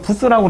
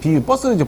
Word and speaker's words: 버스: 우리가 부스라고 그래요. 우리말로, 우리가 현장에서 부스. BUS, 버스죠, 버스. 원래 발음은 버스로 얘기해야 되는데, 부스라고 얘기를 하죠.